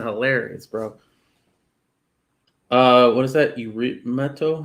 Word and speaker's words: irrumatio: Eurymeto? How do you pronounce that? Irimatio.